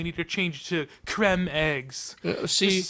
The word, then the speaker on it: Creme: Oh, you would be wrong, actually, because they've decided that it's no longer cream, it's creme, like as in them, where instead of rhyming with, say, dream, like cream should.